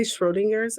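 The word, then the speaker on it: Schrödinger's: at the same time did i say schrodinger's is it strawberries yeah you said it right okay cool now i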